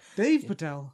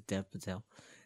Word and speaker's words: Dev Patel: Isn't it Dev? Or Patel? Dev Patel. I don't know which way you pronounce his name. I thought you pronounced Dev or Dave. Dev, I don't know. Not Dave. It can be Dave if he likes. It's easy saying Dave Patel and it is Dev Patel.